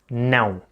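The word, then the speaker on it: não: how to say no noun it's a bit of a tougher one because it's nasal and to be able to pronounce it correctly you gotta do this with your nose and go noun just remember that yes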